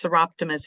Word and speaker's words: Soroptimist: And that was a good pronunciation. It's Soroptimist International.